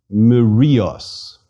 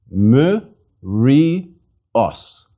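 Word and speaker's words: μυρίος: we Rios and again Mario's by the way the mark over the iota is an accent please repeat Emma Rios each consonant is pronounced with the vowel that follows it as a separate syllable let's read it again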